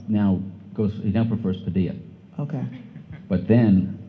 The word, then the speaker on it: Padilla: goes he now prefers Padilla okay but then his lawyer told me it's Pella rhymes with Gorilla okay um so let's